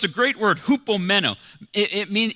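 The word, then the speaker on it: ὑπομένω: in the original language you actually say it like this you say it uh hoop meno just try it out come on just try it it's a cool word to say hoop meno hoop basic basically means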